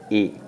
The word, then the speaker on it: y: It looks like a Y, but it's pronounced E.